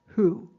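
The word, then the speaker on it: הוא: really gonna be funny the Hebrew word for he sounds just like the word whoo I'm not making this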